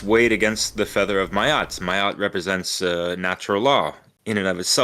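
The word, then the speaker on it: Maat: Feather of Mayat, or Mat, or however people want to pronounce it, spell it. Well, it's M-A-A-T.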